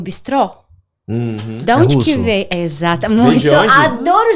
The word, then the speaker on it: bistrô: porque ele na verdade Bistrô entramos e normalmente a o acento ele vai na última sílaba na segunda sílaba não é por isso que é Bistrô e rotisseria besteira porque